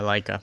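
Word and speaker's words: Laika: And we have Missing Link, which is a Leica production, stop motion animation film.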